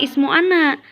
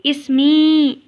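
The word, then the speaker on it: اسمي: Nah, bisa disingkat, jadi dibacanya bukan ismu ana, tapi ismi. Ismi itu artinya nama saya atau namaku, tinggal ditambah ya sukun.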